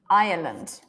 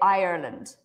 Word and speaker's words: Ireland: this one good so there are actually three syllables in this word iand irand Ireland it's like I land Ireland and in America Ireland Ireland land something like this IR